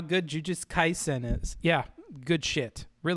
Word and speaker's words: Jujutsu Kaisen: it i'm not going to spell it out it's jujutsu kaisen is the simpsons a kid cartoon yeah i